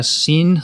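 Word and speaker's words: Sinn: sin is that right how do you pronounce sin just yeah scene scene it's it's like meaning right or sense s-i-n-n german but it gives you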